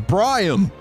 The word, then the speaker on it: Briam: So how do I pronounce it then? Briam!